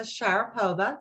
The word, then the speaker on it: Sharipova: dan i'm doing very well this is sharapova did i pronounce that correctly correct thank you i